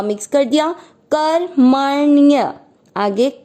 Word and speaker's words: कर्मण्य: साथ पढ़ेंगे कर, म में अ मिक्स करेंगे कर मण्य ण्य, आधा अण है तो उसको पढ़ेंगे ण्य, और य में अ मिक्स कर दिया कर्मण्य।